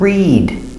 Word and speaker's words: read: And here we have read, with a long E like green beans.